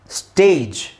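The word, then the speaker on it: stage: ಜಿ ಇಯಲ್ಲಿ ಎಂಡ್ ಆಗಿದೆ ಇದನ್ನ ನಾವು ಸ್ಟೇಜ್ ಅಂತ ಹೇಳ್ತಿವಿ ಹೊರತು ಸ್ಟ್ಯಾಗ್ ಅಂತ ಹೇಳಲ್ಲ ಒಂದು ವೇಳೆ ನಿಮಗೆ ಸ್ಟ್ಯಾಗ್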